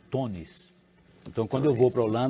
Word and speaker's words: Teunis: Esse EU do Teunis, em holandês, eles pronunciam com O, falam Tonis.